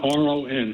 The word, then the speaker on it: Ron: It's Ron, R-O-N. Oh, she spelled it, but it's pronounced Ron.